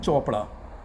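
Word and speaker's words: Chopra: में 2 शब्द हैं, एक आप लिखते हैं केमिस्ट्री, CH से शुरू होता है, और दूसरा शब्द है चोपड़ा, सेम CH से शुरू होता है। अब कहीं पर आप केमिस्ट्री कहते हैं, कहीं पर उसको चोपड़ा कहते हैं।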